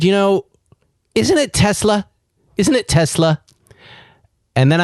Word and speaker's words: Tesla: of Tesla I say Tesla you say both okay Tesla actually I think I probably say it with a slight z sound or I never hav't